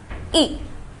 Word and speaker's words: y: So to indicate a place, we use the pronoun y. It's pronounced e.